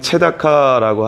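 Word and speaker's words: צְדָקָה: 정의는 히브리어로 미슈파트라고 하고 포악은 미슈파흐라고 합니다. 그리고 공의는 체다카라고 하는데 부르짖음은 체아카라고 읽습니다.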